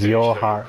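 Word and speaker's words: YoRHa: Okay, so it's pronounced as Yoruha.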